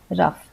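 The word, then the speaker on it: rough: होता है जैसे घोस्ट कभी-कभी जी एच का फ का उच्चारण भी होता है जैसे रफ तो यहां पे संयुक्त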